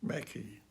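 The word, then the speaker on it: Mackay: Friends of the miners note pronounced Mackie so I'll do my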